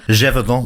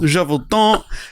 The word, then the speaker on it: Gévaudan: We did the beast of, how do I pronounce this one? Gévaudan. Gévaudan.